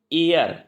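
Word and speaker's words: heir: Throne लिखा है, तो देखिए इसका जो उच्चारण है वो एच से तो हो नहीं रहा है, एयर ए से हो रहा है, इसलिए एन लगेगा। ही इज एन एयर टू the throne.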